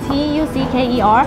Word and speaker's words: tucker: T-U-C-K-E-R. Yes. But the E-R is pronounced with an A, so it's like Tucker.